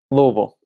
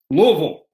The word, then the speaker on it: Louisville: in kentucky we say louisville louisville louisville l-u-l-v-u-l and you got to put some marbles in your mouth yeah you can't get the tongue the tongue's got to be in there louisville you got i i